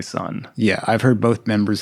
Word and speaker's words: Sunn O))): I've heard Greg say son yeah I've heard both members of the band say son but there's an o in the name so what are you gonna do yeah the O is silent the street well there's